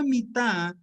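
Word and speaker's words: מטה: La palabra mitá se escribe de la misma manera que dice aquí mate, las mismas letras, mem, tet, hey. Así que para decir mitá, cama, es la misma palabra para decir mate, vara.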